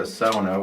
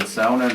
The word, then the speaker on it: sauna: I mean, obviously, first of all, I don't even call it a sauna, which is the proper way to pronounce it. I guess that's the Finnish pronunciation. Here in Canada, if I said sauna, nobody would know what I was talking about. So I've even heard Finns here call it sauna.